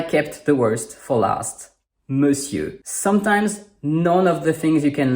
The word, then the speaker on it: Monsieur: Just like madame means “my lady”, “monsieur” means “my sir” and you can kind of see that in the spelling, but not at all in the pronunciation.